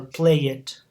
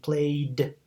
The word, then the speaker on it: played: like amaze it or play it, or in this case maybe place it. So it's important that you don't pronounce the written E. That's why we have amazed and played and again placed.